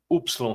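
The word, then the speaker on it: υ: Y, som de U. isso, exatamente. Né? Então é o Y. A melhor pronúncia assim, que fica mais fácil para a gente é o Y, né? Ele pode ter Uhum. o som de U, de I, dependendo do contexto de I, né?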